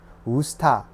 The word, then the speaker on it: 우스타: In Korean, it's pronounced much simpler, 우스타 sauce.